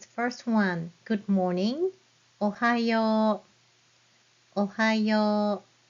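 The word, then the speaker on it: おはよう: Ohayo. The very last u is for O sound.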